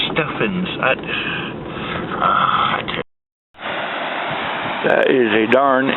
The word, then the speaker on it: Stephens: see the sign but it spells like Stephan's it's Stefan's ID that is a